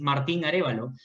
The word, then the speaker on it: Martin Arevalo: Okay, so my name is Martin Arevalo. If you want the Spanish pronunciation, is Martin Arevalo.